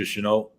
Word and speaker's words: Shenault: How do you pronounce his name? Chenault? Yeah, Laviska Shenault.